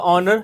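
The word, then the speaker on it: honour: तो अ ऑनर should be एन ऑनर ऑनर ऑनर begins with a silent H. सो इट हैज़ a vowel sound.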